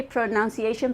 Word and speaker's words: pronunciation: thought speaking of pronunciation we say pronunciation but it's really pro none none none like this none so is pro non SI ation right we all say pronunciation